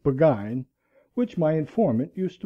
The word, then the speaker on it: Burgoyne: had a famous foxhound named Burgoyne he pronounced it began which my informant used